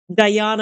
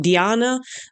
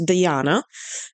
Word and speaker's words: Diana: I basically speak English the entire day, so for me it was Diana. I don't even know why I didn't think it could be the Latin pronunciation Diana. Like I'm Italian, I should have known. So I'm sorry if I mispronounced it. Now I know that it's Diana.